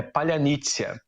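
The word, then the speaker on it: Паляниця: É um pãozinho ucraniano que os russos não conseguem pronunciar direito, porque alguns russos conseguem falar ucraniano e se passam por soldados ucranianos.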